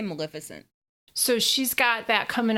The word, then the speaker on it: Maleficent: Did you want to talk about Angelina's, how do you pronounce Maleficent? Did I pronounce it right? Yeah, I say Maleficent.